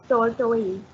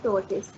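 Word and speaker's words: tortoise: वी से टॉर्टोइल, कचरे को, जबकि उसका प्रोनाउंसिएशन होता है टॉर्टिस, राइट।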